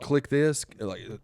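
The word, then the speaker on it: Kliq This: It's called Click This, spelled like KLIQ, like whatever.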